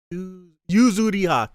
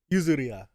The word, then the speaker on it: Yuzuriha: Yuzuriha. Damn it. I got it. Yuzuriha.